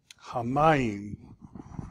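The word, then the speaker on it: הַמַּיִם: Hamayim. So this is going to be a closed syllable. This is going to be a doubling dagesh, so it's ham, my, yim.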